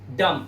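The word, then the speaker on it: dumb: इसी तरह से यहां पर DUM, एम के बाद बी आया तो बी साइलेंट रखेंगे और पढ़ेंगे सिर्फ डम, डम मतलब गूंगा।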